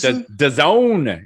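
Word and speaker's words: DAZN: maker no cause nfl has days and days the zone is apparently how it's pronounced uh d-a-z-m awful you're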